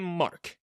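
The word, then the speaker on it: Marke: Of course it's frickin' Mark, with a silent E.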